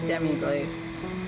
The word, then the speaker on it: demi-glace: All right, here is a demi-glace.